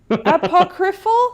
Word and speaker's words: apocryphal: Apocryphal?